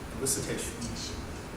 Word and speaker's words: elicitation: Elicitation. It's like solicitation.